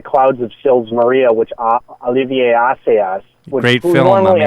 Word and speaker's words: Olivier Assayas: work in The Clouds of Sils Maria, which Olivier Assayas, Great who film, normally my I would man. call Oliver Assayas, but that is how his name is pronounced, so I will pronounce it like that.